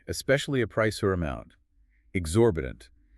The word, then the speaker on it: exorbitant: Exorbitant. E X O R B I T A N T. Exu RB punt.